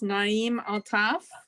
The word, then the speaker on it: Naeem Altaf: okay I just want to make sure I'm pronouncing your name right it's Naim altaf yes that's correct thank you okay Naim altaf